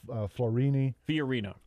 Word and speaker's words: Fiorina: Candidates featured in major polls, and then it lists them: Ben Carson, Ted Cruz, Carly Fiorina.